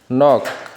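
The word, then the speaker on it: knock: KN এর উচ্চারণ নিয়ম হলো, ওয়ার্ডের শুরুতে KN থাকলে কে উচ্চারিত হয় না, শুধু N এর উচ্চারণ হয়। যেমন নো মানে জানা, নলেজ মানে জ্ঞান, নক মানে আঘাত করা, নাইফ মানে ছুরি, নি মানে হাঁটু।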